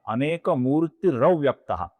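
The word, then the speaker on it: अनेकमूर्तिरव्यक्तः: अनेक मूर्ति का जो विसर्ग है उसके आगे अव्यक्तः का अ आने के पश्चात वहां पे अपूर्ण र बनता है, जो आगे वाले अ में मिल जाता है, तो इसलिए इनका रूप बनता है अनेक मूर्ति रव्यक्तः।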